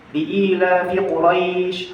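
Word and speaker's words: لإيلاف قريش: Jadi kadang ada orang yang salah bacanya. Salah di mana bacanya? Li'ilafi Quraisy. Harusnya itu 2 harokat. Tapi kadang orang bacanya 1 harokat. Fi Quraisy, itu salah. Salah. Jadi bukan bacanya Quraisy tapi Quraisy, harus 2 harokat.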